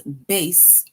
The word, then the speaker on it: bass: and in this sentence base rhymes with case right this is now